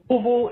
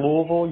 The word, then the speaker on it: Louisville: Louisville is an interesting concept. Where you are in greater Louisville, you may hear it pronounced Louisville, which is more the common way of saying it, or Louisville, or Louis.